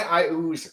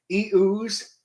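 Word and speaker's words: Iuz: Why I ooze matters. Pronounced 3 different ways that I know of: e-ooze, I ooze like me, or a-ooze. I say I ooze.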